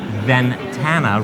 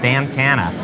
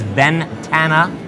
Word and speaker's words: Ventana: that I wrote down I kept pronouncing Ventana research incorrectly I said bandana and I said it in front of Mark Smith who had the best accolades at kickoff and here I am butchering the name of his organization so